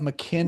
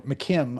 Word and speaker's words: McKim: So, look up Mckinn Observator. McKim, I'm sorry. McKim Observatory. It is adorable. Um so that's that's spelled M C I M K I M.